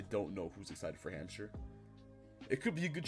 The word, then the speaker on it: Hampshire: Hampshire, I do not believe it is pronounced Hampshire. I believe it is pronounced Hampshire because it is British.